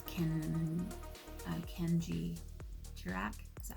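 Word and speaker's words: Kendji Girac: I was really into a guy called Ken Kenji girac is that how you say his name yes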